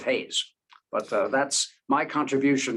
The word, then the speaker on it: Hayes: paraguay named for him which they pronounce hajis instead of haze but uh that's my